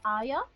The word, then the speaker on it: Arya: game of thrones yeah and if you would pronounce it properly as arya oh aria cool anyways just imagine